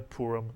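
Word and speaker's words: פורים: 2 vowels, the shuruk and the hirik. Therefore, 2 syllables. The first syllable would be pu, mitsuyan. The second syllable, reem. Put the word together, you get purim. In English, we call it Purim.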